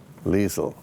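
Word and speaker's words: Liesl: Liesel is short in Austrian, which is the same as German, except it's different pronunciations. It's short for Elizabeth. Liesel, L-I-S-L.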